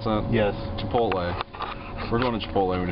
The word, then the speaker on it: Chipotle: we're going to chipotle is that how you pronounce that yes chipotle we're going to chipotle we decided well you